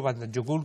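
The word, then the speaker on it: Vatnajökull: de mayores extensión es el Band jokul o Band jokul que lo pronuncian ellos que es una gran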